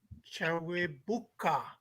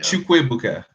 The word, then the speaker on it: Chukwuebuka: um Chawabuk Chawabuk Chawebuka Eniwiche? Yeah, not quite. It's Yeah. Chukwuebuka Oh, Enekwechi.